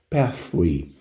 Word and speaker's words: pathway: Detalhe de pronúncia, TH, como eu costumo falar, TH não é F, não é S, não é T, TH é TH. Você consegue fazer essa pronúncia e colocar a língua dos dentes, então fica pathway.